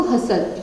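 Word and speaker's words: hustle: आप बताएंगे क्या बोलेंगे इसको, हसल। जब टी छोड़ देंगे तो क्या बन जाएगा ये, हसल, यानी भीड़ भाड़ वाला इलाका जो होता है उसको बोलेंगे।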